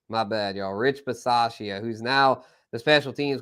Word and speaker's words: Bisaccia: Rich Versace. Okay, Versace. Rich Versace. I don't know how to say it, but he was their special teams coach. The dude, Rich, from the Raiders, the special teams coach. And Bisaccia, Rich Bisaccia. There it is.